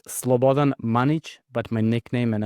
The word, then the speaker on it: Slobodan: Uh well, Eastern European uh names and Western Europe or or American uh pronunciations doesn't really work well all the time. It's Slobodan Manich, but my nickname and everyone knows me as Sunonny.